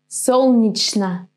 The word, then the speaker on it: Солнечно: Do you pronounce the combination chn in this word? Chn or shn? In this one, it's gonna be chn. Солнечно.